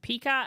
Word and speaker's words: Pika: Pika as in Pikachu.